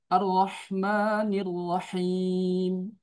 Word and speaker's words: الرحمن الرحيم: Ar-Rahmanir Rahim.